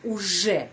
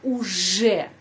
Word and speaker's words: уже: Я уже, di sana ada huruf J, bukan Z, bukan UZ, harus я уже знаю это правило.